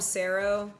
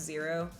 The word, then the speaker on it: Zero: Sometimes I call him Sero, but his name is technically pronounced Zero, but I call him Sero.